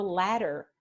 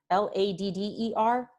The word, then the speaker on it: ladder: B-E-T-T-E-R, the double T, better, better, or ladder, L-A-D-D-E-R, ladder. Better and ladder are both pronounced with this sound.